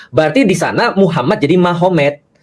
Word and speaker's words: Magomed: Kalau kita tahu artinya berarti di sana Muhammad jadi Mahomet. Jadi tulisnya Magomed, tapi bacanya Mahomet, kan gitu kan ya.